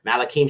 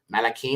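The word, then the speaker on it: מלכים: First Kings as well as second Kings malakim Shani would be second Kings right here okay malakim Shani and Shani means second okay the next book is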